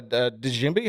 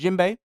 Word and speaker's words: djembe: I know we actually brought a djembe. How do you pronounce that, Josh? Djembe. Djembe. It's pronounced Jimbo.